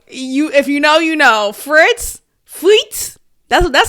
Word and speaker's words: Fritz: Fritz.